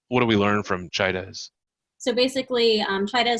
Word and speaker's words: Chaidez: it CH a idea easy how do you pronounce that Chaidez and and so so there's always like two